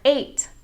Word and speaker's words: eight: at the word for the number eight e i g h t the e and the i make the a sound oy is another diphthong